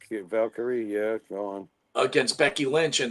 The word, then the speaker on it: Valkyrie: How did you like the Lyra Valkyrie, right? Am I pronouncing that right? Valkyrie, yeah, go on.